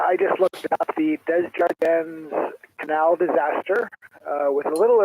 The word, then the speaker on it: Desjardins: I think it's pronounced Desjardins. Oh, Desjardins. Yeah, that's the proper way to say it in French. A lot of people pronounce the N.